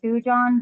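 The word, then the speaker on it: thujone: and then the word that you guys just looked up, thu, it's a thujon. That's how you say it. It's thu and John.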